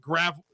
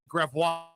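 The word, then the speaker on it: Gravois: Why do we pronounce it gravel? That's wrong. Oh man. We can just pronounce it gravo.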